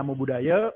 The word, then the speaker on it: Namo Buddhaya: Namo Buddhaya, bacanya Namo Buddhaya, umat Buddha.